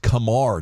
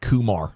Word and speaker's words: Kumar: you got the memo it's pronounced Kamar not Kumar like the movie just in case you